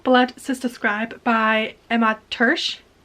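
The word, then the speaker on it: Törzs: sister Scribe by Emma tur I'm hoping I'm pronouncing that correctly it should be like the same tur as the Hungarian pronunciation so hopefully that's the right one I'm sorry if it's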